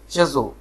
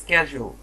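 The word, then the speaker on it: schedule: সো আমরা এই শিডিউলটাকে যারা শিডিউল যারা বলি সেক্ষেত্রে ব্রিটিশরা উচ্চারণ করে হচ্ছে শেজো, ঠিক আছে, শেজো শেজো। আর যারা আমেরিকান আছে তারা উচ্চারণ করে স্ক্যাজুয়াল।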